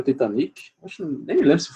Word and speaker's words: Titanic: Como é que a gente pronuncia Titanic em inglês? Quem é que sabe aí? Alguém? Titanic. Titanic, né? Titanic, ok? Você puxar um pouquinho mais pro A, eu acho que mesmo os nativos britânicos, eles não puxam, não.